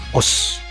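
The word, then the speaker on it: 押忍: Os. Nah, gitu. Ada osnya OSU. Osu, tapi bacanya os gitu.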